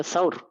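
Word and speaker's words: ثور: ada di atas gunung sahur bacanya sahur sahur itu artinya sapi jantan atau banteng kalau orang Indonesia baca syur itu sepertinya ya kalau sepengetahuan saya kurang tepat kurang pas yang benar kan gua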